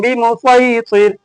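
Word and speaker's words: بمصيطر: यहाँ जो स्वाद के ऊपर सीन दिख रहा, यहाँ दोनों तलफ़ुज़ कर सकते हैं, यानी सीन का भी प्रोनाउंसिएशन करेंगे और स्वाद का भी करेंगे, वो आपकी मर्जी, कोई एक करना है। स्वाद करेंगे तो भी ठीक है और सीन कर लिया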